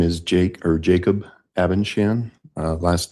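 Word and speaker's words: Abendschan: Um, my name is Jake or Jacob Abenshan. Uh, last name is spelled A B E N D S C H A N.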